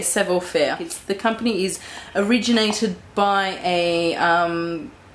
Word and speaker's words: Savoir Faire: But if not, if I'm saying it right, but just for now, I'm going to say Savoir Faire.